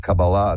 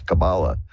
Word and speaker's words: Kabbalah: This is the whole thing about Kabbalah, the study of that, and I pronounce it that way purposefully, because the more dilettante version is Kabbalah. But the Kabbalah, which is the more